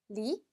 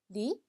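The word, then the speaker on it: lit: 자, 침대는 불어로 리, 리. 자, 마지막 때는 발음이 안 되죠, 그쵸?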